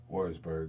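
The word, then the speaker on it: Würzburg: in Leesville, Virginia, and forgive me if I pronounce this incorrectly. Was it Wurzburg, Germany? Uh, Leesville, Louisiana, and Warrisburg, Germany.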